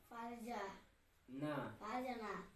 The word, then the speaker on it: ফারজানা: এ আর জেড এ এন এ ফারজা ফারজা না ফারজানা এফ এ আরজে এন ফারজানা ফারজানা এটা শব্দের উচ্চারণ হবে কি যেন এফ এ আর জেড